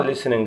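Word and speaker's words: listening: الدبليو مش بنطاها, رايتنج, ليسننج التي برضو مش بنطاها, ليسننج الاستماع, سبيكينج التحدث, هومورك واجب, بيج صفحة, سكسس نجاح, فيلير رسوب, ستادي يذاكر, فلاج علم.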